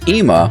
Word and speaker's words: ima: would say in english whereas ema which also starts with the aleph begins with an e sound a double e sound transliterated as an i how do you know